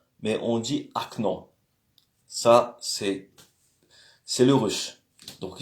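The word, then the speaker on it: окно: Il faut savoir que la lettre O, des fois, est prononcée comme un A. Quelque chose entre le O et le A. Par exemple, c'est okno, mais on dit acno.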